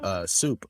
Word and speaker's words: SUP: favorite places to go was this place called Soup, but it's spelled Oh yeah.